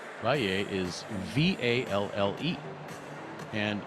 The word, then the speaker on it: Valle: Valle is V-A-L-L-E, and in Spanish, at least in Spain as I understand it, that would be Valle. But South American Spanish, the 2 L's are pronounced more like a J, as we saw last night in Jaime Lloreda, L-L-O-R-E-D-A. And the V is pronounced a little bit more like a B, so it's Valle, as I understand it.